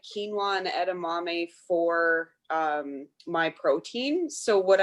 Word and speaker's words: edamame: I use a lot of like quinoa and edamame for my protein.